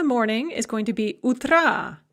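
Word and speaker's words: утра: is going to be utra note the stress shift utra has the stress on the first syllable but we put it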